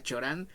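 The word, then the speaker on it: Cioran: referencias emite orán 8 orán he escuchado que por ahí se pronuncia chorán pero yo le digo sí orán en Misión voy a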